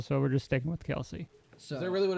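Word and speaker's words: Kelce: And their dad's like, I just got tired of correcting people, so we're just sticking with Kelsey.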